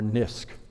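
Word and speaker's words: NISQ: scale quantum computing or NIST computing which I think happily rhymes with risk and the bottom line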